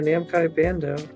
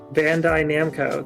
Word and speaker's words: Bandai Namco: them is made by namai Bando oh there you go except say say it correctly Bandai Namco there we go Nam